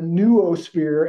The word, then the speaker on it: noosphere: Pierre as Teilhard, and the noosphere as with the new instead of the no. I say, just say no to the noosphere.